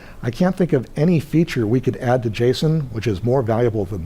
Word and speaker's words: JSON: I say JSON, a lot of people say JSON. It turns out the correct pronunciation is JSON.